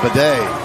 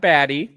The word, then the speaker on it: Badie: With bidet. That's bidet in motion. For a small horse. Hey, we were like, this announcer's saying his name wrong. He's calling Tyler. He's calling him Bidet. Not Badie, not Badie.